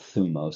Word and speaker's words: thumos: This is sometimes spelled thymos but we're going to call it thumos because the y is pronounced like a u.